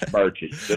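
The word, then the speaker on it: Burchett: c h TT and thanks for saying my name right God Dam it these people have been up here six years and you can't it's Birches I me listen listen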